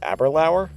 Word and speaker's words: Aberlour: Are you sure this distillery isn't pronounced Aberlour?